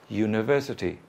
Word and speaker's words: University: in that Jay but it's the Y sound do you University look there's no Y here but it's pronounced like that do you you want